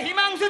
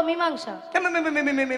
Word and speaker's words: মীমাংসা: আজকে একবারে হিমাংশু চাই। হিমাংশা মীমাংসা নয়, বলো মীমাংসা।